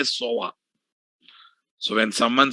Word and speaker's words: SOA: pronounce like that only they make uh abbreviations as pronunciations guys they never say sa they always say soa so when someone says